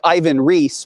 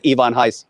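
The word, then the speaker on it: Ivan Reis: you say it yeah people know him as ivan reese but by his own pronunciation it's ivon heiss and and you always said lady death is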